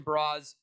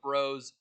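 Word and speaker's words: Broz: really big for us Tristan bras uh or bros is the Top Line center it's Bros now whether it's not yeah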